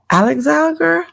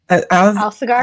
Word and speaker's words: Alsagar: Now, today our guest is Alsagar. How do you say it? I want to make sure I say it right. Alsagar.